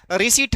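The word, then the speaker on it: receipt: रिसीट होता है। तो इसमें क्या साइलेंट रहेगा? रिसीट। इसमें आपका पी साइलेंट रहता है।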